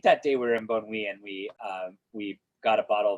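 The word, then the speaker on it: Bonnieux: Bonui. Yeah. There's an X in it, okay, at the end. Bonui.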